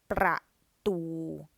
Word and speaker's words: ประตู: ประตู ประตู. So that's 2 syllables but 1 word. So ประตู means door. So the first syllable is a dead syllable, ประ, and the second is live, ตู ประตู.